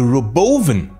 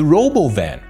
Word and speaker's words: Robovan: And not only the Tesla Robotaxi has been unveiled, but also the Roboven, as Elon pronounced it. Some might even call it the Robovan.